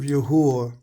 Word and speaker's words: Yahuah: book of Yahweh, but we know how to pronounce the name of the creator, so it's the book of YaHUaH, right? Because we know the W is very, very suspect, and it's not supposed to be, it's an English word.